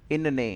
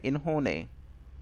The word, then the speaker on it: इन्होंने: अब प्रोनाउंसिएशन में कभी आपने ऐसा नहीं सुना होगा, इनने हमेशा बोला जाता है इन्होंने। ठीक है, तो ये चीज़ ध्यान दीजिएगा, इनने नहीं बोलना है, इन्होंने।